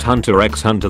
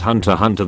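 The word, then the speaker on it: Hunter × Hunter: Other anime fandoms, you know it's pronounced Hunter x Hunter. That's how English works. No, it's called Hunter Hunter. The x is just a symbol.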